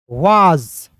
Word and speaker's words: vase: फिर देखिए यहाँ पे VASE वाज, VASE को क्या पढ़ेंगे दोस्तों, यहाँ देखिए ऐसे वाज से नहीं पढ़ेंगे, ठीक ना।